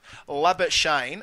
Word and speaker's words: Labuschagne: There's going to be many ways of pronouncing his name, but we're going to go with Labuschagne because that's what he's asked for. If you can't use the Afrikaans hard R, then don't use it at all.